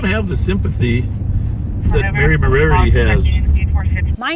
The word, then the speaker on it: Moriarty: I think you got to have the accent on the right syllable.